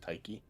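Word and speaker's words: Tyche: It's actually a Greek goddess, and it's pronounced Taiki.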